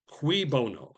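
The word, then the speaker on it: cui bono: Qui bono. Cui in Latin. CUI is pronounced qui bono translation for whose benefit?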